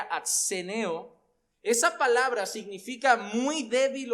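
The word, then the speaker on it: ἀσθενέω: Pero la realidad es que la palabra griega aquí, que más o menos se pronunciaría atseneo, esa palabra significa muy débil o fatigado, pero se puede usar también a nivel espiritual.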